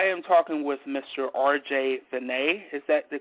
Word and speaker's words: Veney: good so I am talking with Mr RJ vet is that the correct pronunciation of your name yes you're the first